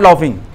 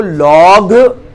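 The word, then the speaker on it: laugh: क्राई यानी रोना, और लॉफ यानी, अब जरा लॉफ की स्पेलिंग देखो जल्दी से, बहुत ही प्यारी स्पेलिंग है, तो उसको लॉग पढ़ना चाहिए था देखा जाए तो, लेकिन हम क्या पढ़ेंगे उसको? लाफ, ऐसे ही पीछे एक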